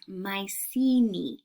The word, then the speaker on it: Mycenae: The country, or I should say, the culture, is referred to as Mycenae.